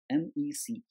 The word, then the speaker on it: MECE: It's pronounced as MEC, MECE, which is mutually exclusive and collectively exhaustive.